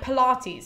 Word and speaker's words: Pylades: It's either Pylades or, okay, I wrote this one down, but it sounds exactly like the other ones, but it sounds more like Pilates.